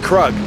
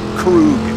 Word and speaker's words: Krug: without Jericho he's nobody and it's pronounced kug not Krug man are we tailing kug